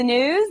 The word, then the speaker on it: Gnooze: Hello and welcome to the news. The G is silent.